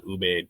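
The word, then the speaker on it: Ubaid: refer to as the first sales with the ubed people uh it's u-b-a-i-d I think is how they spell it um and you know you're looking at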